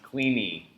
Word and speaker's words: Kleene: this up on wikipedia i believe his name is pronounced cleany he was actually so